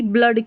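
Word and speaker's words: blood: लेकिन कुछ-कुछ स्पेलिंग्स में यहां पर जैसे मैं बताऊं कि ब्लड की स्पेलिंग है। ठीक है? ब्लड की स्पेलिंग है बी L double O डी। तो यहां पर तो डबल ओ का अ उच्चारण हो रहा है।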